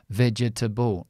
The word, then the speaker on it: vegetable: Or this one here. Vegetable. No, this is the stressed syllable. This is the schwa. Here I have a T. Eliminate the schwa. Vegetable.